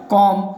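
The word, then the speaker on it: comb: वैसे ही यहाँ पर कॉम, थम, यहाँ पर बी का उच्चारण नहीं हो रहा है।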